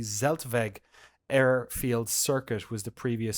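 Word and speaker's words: Zeltweg: in 1970 the Z I believe it's pronounced the zeltvague Airfield circuit was the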